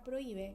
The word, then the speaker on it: prohíbe: Esto quiere decir que la palabra prohíbe, que es grave, porque se acentúa en la segunda sílaba de atrás para adelante, aunque termine en vocal,